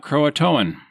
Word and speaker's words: Croatoan: So I'm going to tell you, we're going to do the pronunciations first so that Mike can fact check me later when I forget. We've got Croatoan, which are the indigenous people and the island now associated with the modern Hatteras Island.